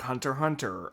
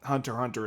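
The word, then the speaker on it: Hunter × Hunter: it spyx family but the x is supposed to be uh silent kind of like Hunter Hunter uh gun sword uh I'm I'm probably missing one yeah the X and Hunter Hunter is silent it's odd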